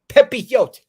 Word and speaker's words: Pepiot: Apparently, you gotta say it like you're a bird chirping, Connor, according to Jimmy Gomez. Pepiote.